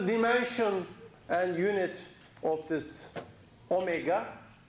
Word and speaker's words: omega: and unit of this omega is pronounced omega not w okay what is its